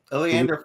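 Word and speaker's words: Eliander: marge who's the fourth person ellie ellen oh aleander um let me spell it for you e-l-i-a-n-d-e-r aleeander fireborn he is the captain of the guard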